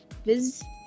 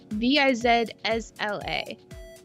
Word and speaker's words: Vizsla: Vizsla. V-I-Z-S-L-A.